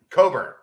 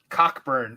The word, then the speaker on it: Cockburn: to go oh with kofi cockburn coburn cockburn is the way that that's spelled you're gonna make me